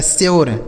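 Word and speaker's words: sure: लेकिन अगर यू के बाद आर इ रहता है तो यू का उच्चारण यो हो जाएगा।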